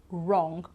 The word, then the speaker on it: wrong: me right wrote wrap wrong or wrist everything starts with an r so the sound ra but in fact we don't pronounce the w here right and also the